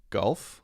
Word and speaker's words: gulf: completely the same but when I say golf goal goal goal it's directly down to the oh oh sound whereas I say golf there's actually more of an ah sound more of an a sound when I'm pronouncing that one so it is a